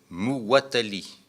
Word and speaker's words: Muwatalli: Il est Muwatalli, comme ça se prononce. Hein. Vous écrivez comme ça se prononce, M-U-W-A-T-A-2-L-I.